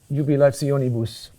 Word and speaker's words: jubilationibus: So let's take our word jubilationibus. Okay, what kind of word is it? Onibus. Accent, the third to last syllable. It's a dactyl.